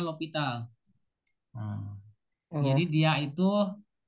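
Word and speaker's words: L'Hôpital: nulisnya hospital, tapi bacanya L'Hopital.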